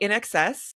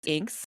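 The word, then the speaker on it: INXS: me, for sure, like In Excess, which you guys, I thought was Inks. I called them Inks for a long time. I did not know. Like, in your defense, it looks phonetically like Inks.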